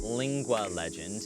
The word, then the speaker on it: Lingua Legend: So it is pronounced Lingua Legend, and lingua is a Latin kind of origin word that simply means tongue or language.